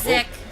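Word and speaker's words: Zik: pronounced Zeke. Is it Zeke? No, it's Zick.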